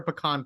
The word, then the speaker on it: pecan: Is it pecan pie or pecan pie? Pecan. All right. Not pecan. Pecan. So I learned that depending on where you are, I think in the Northeast they say pecan. Yes. They pronounce it wrong.